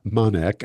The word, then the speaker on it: Manek: Manek. Am I pronouncing your last name right?